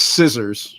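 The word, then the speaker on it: SC\SSR: your seventh one now uh I'm assuming it's scissors right that's how you pronounce it yeah but uh like what was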